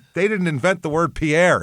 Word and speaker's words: Pierre: Pier, South Dakota is how they say it here.